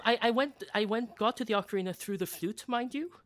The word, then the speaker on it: ocarina: Yeah, the ocarina.